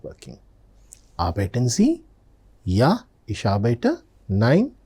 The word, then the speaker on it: arbeiten: Arbeiten Sie? When I am saying arbeiten, observe, the R letter is very faintly pronounced.